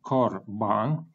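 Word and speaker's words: קָרְבָּן: closed or open syllable for example corbon in this case we have comets and this is exactly clemetz hatuf because the accent falls at the last syllable and the first syllable is closed so we have corban and it should be read as o because it is comments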